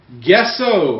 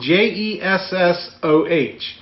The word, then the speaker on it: gesso: We're going to be using gesso. I gesso this is the right stuff. Why don't you just spell it the way that you're going to say it? Because it's gesso. It's pronounced Jessoh.